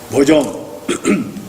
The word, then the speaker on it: bhojan: what the Bengalis call bhojan. What is bhojan? Bhajan. Huh? Bhajan. Then what else is it called? Bhojan. Yeah, bhajan plus bhojan. Bhojan. They pronounce both of them the same way.